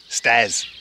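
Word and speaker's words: stères: we got five five steers stairs is how they pronounce it in French um and I think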